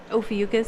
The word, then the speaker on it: Ophiuchus: sign in a lot of cases are you over yuccas yeah there you go I don't know how you say it something like that Ophiuchus yes are you familiar with that absolutely yes